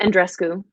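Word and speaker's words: Andreescu: a lot about uh bianca how do you pronounce her name and andres bianca and dresco okay which is probably not the most typical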